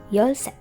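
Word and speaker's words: 열셋: number 13 in korean is your set yo set again number 13 in korean is yolsen 14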